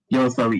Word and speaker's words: YOASOBI: Yoasobi, yeah, because I think that it got big on TikTok. Okay, yeah. Yeah, I see them everywhere. Yeah, because I was like, what's a Yoasobi?